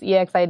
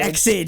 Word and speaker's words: EXID: It was Exid. Exid, yeah. I think everyone does that. Oh no, it's like it's Exid and BTOB instead of B2B, because you wouldn't normally think you pronounce the letter, then pronounce like two, and then pronounce the letter.